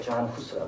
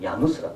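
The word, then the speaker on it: Jan Hus: 우리는 영어식으로 존 후스라고 그러는데 체코에 가니까 체코 사람들은 야누스라고 그래요. 야누스. 그래서 존을 얀으로 발음하고 그걸 붙여가지고 야누스.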